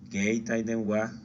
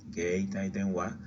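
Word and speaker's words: 携帯電話: Celular, geitai denwa, geitai denwa. Algunos lo pronuncian con G al principio, otros lo pronuncian con K.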